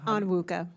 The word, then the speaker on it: Onwuka: Miss, I hope I don't pronounce it wrong, Onwuka? Onwuka. Onwuka? Yes.